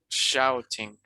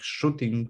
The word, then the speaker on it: shouting: no it's not like it's not like shooting because shooting would be spelled with two o's okay the sound that we're making here is the owls like shout out shouting from the rooftops to share some